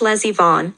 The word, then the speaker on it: Les Yvonne: Pronounced Les Yvonne, like my niece is the lesbian baroness of some German village.